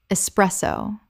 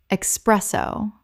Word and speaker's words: espresso: Word 29, espresso. Common mispronunciation, expresso. Correct pronunciation: espresso. There is no X in this word. It begins with e s, not e x.